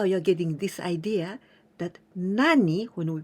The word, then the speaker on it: 何: And also, some people in some area of Japan, in the dialect, instead of nani, some people pronounce nan. But you must know this is dialect. The correct one is nani.